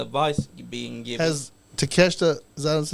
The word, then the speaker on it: Takeshita: Yeah, but they're like, the belt that, like, can you tell me what belt that Katasha has? No. Did I say his name wrong? Takeshita.